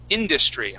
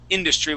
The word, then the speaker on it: industry: a look at um industry okay so at the very beginning we have this word industry with the accent at the very beginning try that please industry good good other than